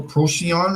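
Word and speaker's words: Procyon: here find my app I think it's pronounced Pro proon or something Pro H I know what you're talking about Proto no how you spell it uh p r o c y o n proon oh sure yeah it's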